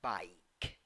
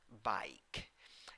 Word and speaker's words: bike: hat how do you pronounce that word i pronunciation bike bike a thing seven letters seven sounds three syllables